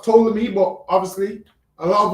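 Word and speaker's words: Ptolemy: See, so it's it's pronounced tolamy, but obviously a lot of us say petroleum.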